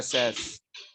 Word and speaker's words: says: Ah, by the way, este se pronuncia says. ¿Por qué? Porque sí. Okay? No hay razón.